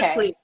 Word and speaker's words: Witvliet: Witvliet. It's okay. Witvliet.